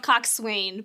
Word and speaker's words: coxswain: It's spelled Coxswain, but it's pronounced Coxswain, which isn't any better.